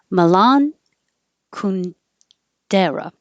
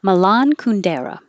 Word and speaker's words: Milan Kundera: So here's a YouTube video with somebody pronouncing this name in very interesting voice. Milan Kundera. I had to stop and look. It is Kun. Milan Kundera.